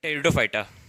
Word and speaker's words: टेरिडोफाइटा: Division 3 टेरिडोफाइटा, इसमें पे silent रहता है इसलिए इसको बोलते हैं टेरिडोफाइटा।